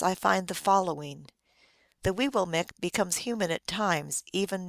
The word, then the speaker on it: Weewillmekq: The correct pronunciation is very early Weewillmekq for both Penobscot and Passamaquoddy, but this would be